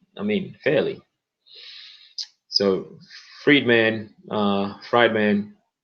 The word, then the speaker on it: Friedman: mean Haley so Friedman fried man I pronounce that Friedman because like treatment but yeah defended Israel's